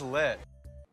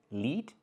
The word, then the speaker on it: lit: Lit means amazing. First, the word is not pronounced lit. It's not with the long E sound like green beans. It's with the short I sound like this is, lit.